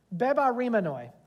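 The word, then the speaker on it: βεβαρημένοι: Bebaremenoi.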